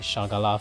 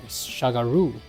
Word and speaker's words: Shagaru: Keep thinking Shagala for some reason. Shagaru. Shagaru Magala.